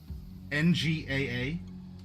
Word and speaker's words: Nga: N G A. I may not be pronouncing that correct. Uh na like two syllables. Nga.